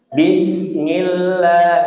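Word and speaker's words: بسم الله: Jangan dilipat giginya bit ya. Jangan dilipat tsa tapi sin sasi su bas bas. Bismillah. Nah, itu yang betul ya.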